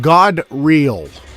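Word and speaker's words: Gadreel: and now we have God real okay the name is pronounced God real not God real it's it's God like we get today with the word god this is where it comes from God real so there's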